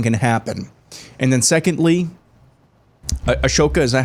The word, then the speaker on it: Ahsoka: And then secondly, Ashoka, is that how you say her name? Ahsoka.